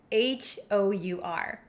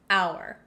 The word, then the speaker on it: hour: like o u r we totally get rid of the h sound and that's why we say an hour on the other hand